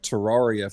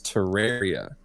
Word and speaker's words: Terraria: Typically it never works in my favor because I called it Terraria for years, and apparently the actual pronunciation is Terraria.